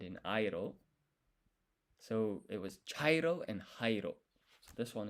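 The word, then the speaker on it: 茶色: So you have hairo and you have chairo. Chairo sounds like chai, like the beginning of that word. And chai is a type of tea. It's brown.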